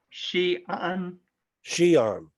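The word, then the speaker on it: Xi'an: session in the book of perspectives oh is pronounced shean shean out of Northwest China say it again Bill Shan Shan all right yeah she would be uh West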